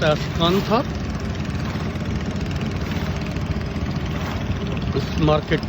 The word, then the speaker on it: Can Tho: Hello everyone, and we are inside Kairang floating market, a wholesale market in Kantha, spelled as Kantho but pronounced as Kantha.